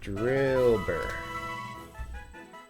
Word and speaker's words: Drillbur: Alright, Drillbur. Rhymes with Wilbur.